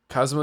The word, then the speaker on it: Kazuma: I feel like I say his name wrong every single time and they just said it a bunch of times and I still can't stop saying Kazuma. Kazuma. Kazma. Kazma. Kazma is fine.